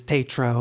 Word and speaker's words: Tatro: the same way it's it's a French you know originally a French name even though I'm not French but the pronunciation is Tatro or close to it so what I